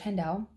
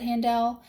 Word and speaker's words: Handel: So I'd be willing to bet that in Germany, the people that spoke to him, I'm sure it was probably pronounced Handel, and that's probably the proper way to say it.